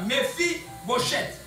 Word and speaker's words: Mephibosheth: David dit, ne crains point, ses fils s'appelaient Mephibosheth. Prononcez-les comme ça. Mephibosheth.